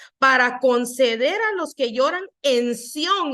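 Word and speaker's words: צִיּוֹן: Dice que Sión es una palabra hebrea que es del número 6726 y se pronuncia más o menos así como Sión con una T al principio y viene de otra palabra que es la hebreo 6725, dice.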